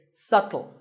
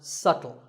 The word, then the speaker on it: subtle: you say it it's subtle the B is silent subtle means something that is difficult to notice or something that isn't obvious and once again the word is pronounced subtle another popular word with